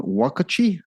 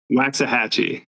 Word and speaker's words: Waxahatchee: This I can't even pronounce this one. Wakachie? Is that National the National Empire League? Say it again. Waxahatchee.